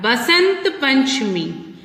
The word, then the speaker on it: Basant Panchami: Then we have Basant Panchami, which is also called Vasant Panchami. V or B both are correct pronunciations, and on this day we worship goddess Saraswati.